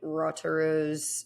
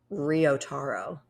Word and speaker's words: Ryotaro: before we move forward we've been saying rotoru's name wrong it's uh ryotaro okay cool yeah ryotaro which makes sense because I've just been skipping over the why because I didn't know what to do with it and that's why we